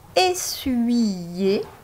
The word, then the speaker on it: essuyer: prononcerait UIIE, et effectivement, dans le mot essuyer, on entend comme s'il y avait UIIE.